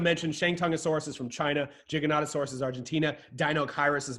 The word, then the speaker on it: Giganotosaurus: Giganotosaurus, which means giant southern lizard.